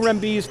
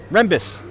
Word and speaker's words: Rembis: That's Kyle Rembiz pronounced like this. Rembis.